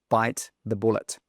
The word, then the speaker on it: bite the bullet: bite the bullet.